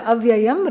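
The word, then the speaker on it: अयम्: first sentence aayam aayam because the aayam rhymes with yum.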